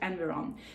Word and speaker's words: Environ: Yeah, this is the way you pronounce it, Environ.